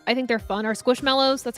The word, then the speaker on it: Squishmallows: I like Squishables I think they're fun or squishmallows that's how you say it yeah um I